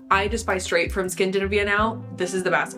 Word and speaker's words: Skindinavia: I'm realizing now that it's pronounced Skindinavia, so ignore every wrong way I pronounce it moving forward.